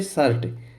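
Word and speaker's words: shirt: उसी प्रकार से शर्ट एस एच आई आर टी। तो इसको हम सिर नहीं बोलेंगे। इसको हम बोलेंगे शर्ट। क्या बोलेंगे? शर्ट। तो यहां पर जो आई आया है इसका उच्चारण क्या किया हमने?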